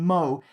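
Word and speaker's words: Meaux: to 28th rgc 2018 in MO that's spelled me Au X because it's French he says keep up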